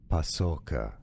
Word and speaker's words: Paçoca: Name pronunciation. Food name from Portuguese. Paçoca.